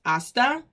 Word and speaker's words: hasta: silenciosa no se pronuncia it has a purpose but we do not pronounce the h try to write that